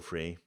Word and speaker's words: Freyr: want to say and it's just normal to anglicize names by not putting an r at the end because it's so weird difficult to pronounce so I go free much easier to say and closer to what you say in Danish too are you ready yes